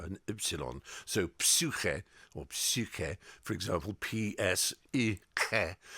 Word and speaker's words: psyche: Yeah, and as kids we say, why is the P silent?